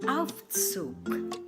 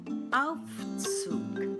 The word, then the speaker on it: Aufzug: Elevator or lift, der Aufzug. Der Aufzug. Take note, the G at the end of the word sounds like a K.